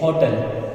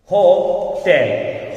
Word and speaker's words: hotel: लेकिन भाई ये जो वर्ड है ये होटल नहीं है। Excuse me, yes students, so this word is not hotel, this word is pronounced correctly hotel.